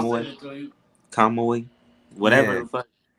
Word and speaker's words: Kamui: So that Ninja So Kumui, how the I'm saying it right? Kamui.